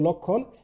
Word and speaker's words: লক্ষণ: কোনো ফলা যুক্ত থাকে, তাহলে এটা কিন্তু মানে সব আদ্য ও এর উচ্চারণ কি অবিকৃত থাকে, কোনো পরিবর্তন হয় না। যেমন লক্ষণ, একইভাবে দেখো আমি এখানে